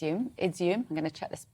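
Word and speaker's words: Izium: for me to say izum is the pronunciation um really harrowing site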